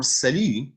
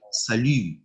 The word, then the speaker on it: salut: So for salut, okay, so let's just work on the right pronunciation, and we would say salut and not salut.